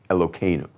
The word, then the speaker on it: Elokeinu: For study purposes, we say Kenu. Even though it's Heinu, we're going to be saying Elokeinu.